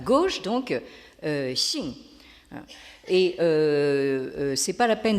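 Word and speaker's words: 性: Alors, donc, toute la discussion tourne autour d'un mot qui s'écrit et se prononce en chinois moderne, vous l'avez en haut de la diapositive à gauche, donc Xing.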